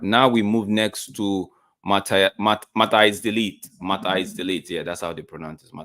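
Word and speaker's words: Matthijs de Ligt: Now we move next to Mata is delete. Mata is delete. Yeah, that's how they pronounce it.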